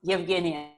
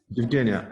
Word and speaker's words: Yevgenia: How do I pronounce it well? Yeah, almost. Yevgenia. Yevgenia.